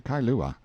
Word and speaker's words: Kailua: We landed at Kailua, pronounced Kai-lu-a, a little collection of native grass houses reposing under tall cocoanut trees, the sleepiest, quietest, Sundayest-looking place you can imagine.